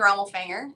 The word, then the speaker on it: Ramulfanger: Um, my name is Ramulfanger is how you say that last name.